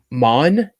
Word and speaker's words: Mawnan: I don't know how to pronounce it. It's Mawn, Mawnan.